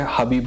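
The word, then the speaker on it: Khabib: हबीब नरगम, हबीब जो है, खबीब नहीं कहेंगे हम क्योंकि हम इंडिया पाकिस्तान से, हमें पता है कि उसका नाम हबीब है और हम इज्जत से हबीब बोल सकते हैं।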